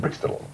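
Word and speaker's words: Breaksteddle: And I said, now how do you pronounce it? She said, Brickstable.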